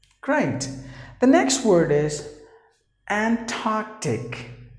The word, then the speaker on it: Antarctic: The next word is Antarctic. Antarctic. Just imagine that there is a K sound.